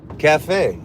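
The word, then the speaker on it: café: Cafe.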